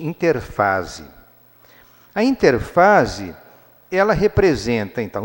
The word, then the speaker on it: interfase: ou vocês vão encontrar alguns livros de biologia escrito interérfase, mas o nome pode se pronunciar mais corretamente interfase.